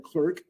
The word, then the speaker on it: clerk: This bylaw authorizes the mayor and clerk, thank you, sometimes pronounced Clark and sometimes mayor and